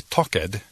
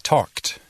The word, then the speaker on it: talked: No I talked, pero I talked. La terminación suena como T.